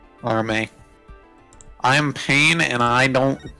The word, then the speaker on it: Arme: By the way, her last name's pronounced Arm. It's a pun. Arme.